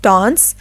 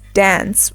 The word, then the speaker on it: dance: the first word is dance in American English it is pronounced as dance with a short a sound in British English it